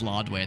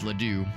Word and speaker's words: Ladue: Because my GPS used to pronounce it as Lodway, and that made me happy. I always liked it when she would say, "Take a left on Lodway Road," but we all pronounce it as Ladue.